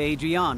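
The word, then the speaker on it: Adrianne: You should talk to Adrienne at the forge. Her name is Adrienne? I don't think I pronounce it that way. I think I say Adrian or something like that, like in Rocky.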